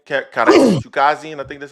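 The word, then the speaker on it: Chukhadzhian: Chukazian, I think that's how you pronounce it. Yeah, Chukazian.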